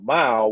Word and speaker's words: MYLE: entertaining so it's m-y-l-e it's pronounced just like when you drive a mile but it's spelled with the y instead of an i because it's really all about you and mile is a social activity